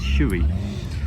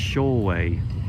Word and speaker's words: Shoei: Britain, and it's pronounced Shoei. So totally different in Japanese, the pronunciation, but you can see why we would in English pronounce it Shui, because it looks like Shui, doesn't it?